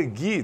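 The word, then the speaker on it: ghee: E a manteiga Gui, né? O o GUI escreve GH e E. É assim que se escreve manteiga Gui, ou também conhecida como manteiga clarificada.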